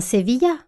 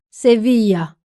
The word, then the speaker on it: Sevilla: « Monsieur Alcade, Séville en espagnol se dit bien Sevilla, n'est-ce pas ?» interrogea Madame Vincent. « Oui, n'oubliez pas l'accent tonique, Madame Vincent. Sevilla !» répéta fièrement M. Alcade.